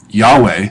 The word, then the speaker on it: Yahweh: so it looks like it's um yahovah or or yva do you hear that yahovah that's where the word Jehovah comes from it's a kind of it's a kind of Mis mistake pronunciation um I mean the reason that you put the vowels for Adonai my Lord above on the consonants for Yahweh how was probably pronounced um in Antiquity maybe probably is so